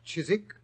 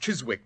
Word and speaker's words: Chiswick: Chiswick? It was originally pronounced Chiswick, Watson, and it's still so spelled.